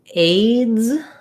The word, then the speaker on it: aids: So what we have here is a D and a Z sound, z, aids, with the A diphthong.